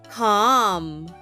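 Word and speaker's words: calm: spell and read with me repeat after me CAL c a a l m let's spell that again c a l m c let's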